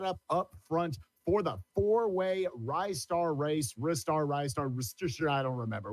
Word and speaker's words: Ristar: Remember, kids, it's wrist, not riced. So Ristar grabs things with wrist. It's Ristar. That's how I know how to say it too.